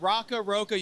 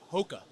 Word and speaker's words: ROCKA: We are actually even in Brazil now, and I think they pronounce it ROCKA. I think the R is an H in Portuguese, but I don't know.